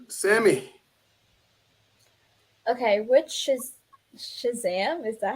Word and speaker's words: Shazam: Okay, which is Shazam?